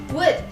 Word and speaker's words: would: Number 3, wood. Wood is often mispronounced as wood. Padahal huruf L yang ada di dalam kata tersebut tidak usah kalian baca.